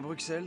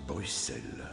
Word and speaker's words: Bruxelles: Allons à Bruxelles, dans ce cas. On prononce Bruxelles, Votre Altesse. Ah, c'est pas X. Non, mais je vous expliquerai.